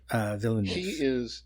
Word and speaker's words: Villeneuve: This director, how do you pronounce his name? Villeneuve.